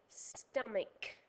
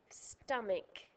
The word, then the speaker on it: stomach: Listen to the word stomach. stomach. Can you hear a c sound at the end?